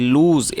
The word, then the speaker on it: lose: कर सकते हैं, LOSE, लूज़। और इसे लॉस नहीं पढ़ना है, इसे लूज़ पढ़ना है, जिसका मतलब होता है खोना या फिर गंवाना।